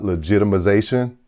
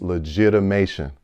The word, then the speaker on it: legitimation: It's not legitimization. It's not legitimization. It's legitimation. All right. So when you're pronouncing this word, let's make sure that when you're in the courtroom, it's legitimation and not legitimization.